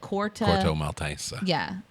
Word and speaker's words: Corto Maltese: place is called, like Corto Maltese. Yeah, Corto Maltese, something like that. It's spelled like Maltese Falcon, but it's pronounced 4 different ways in the movie.